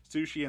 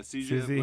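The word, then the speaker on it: Siouxsie: That you use Sushi and the Banshees. Did you say sushi? What do you say? How do you Susie? say it? Susie? There you go. Susie.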